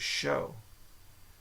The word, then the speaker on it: chaud: But it says to pronounce it show. Show. CHAUD. Show. Okay.